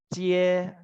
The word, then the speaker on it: jie: Nah, untuk huruf J kita bacanya kayak Ci di bahasa Indonesia. Ci. Makanya JIE baca Cie, Cie, Cie, Cie, tergantung nada yang di atas.